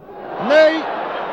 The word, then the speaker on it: Ney: Cela s'écrit comme notre maréchal, Ney, mais ça se prononce Ney, Ney, que voici sur votre